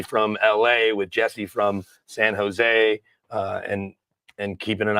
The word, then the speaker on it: San Jose: you know I'm from San Jose and those who are from there don't really pronounce the in it's just San Jose San Jose yeah not San Jose okay I was PR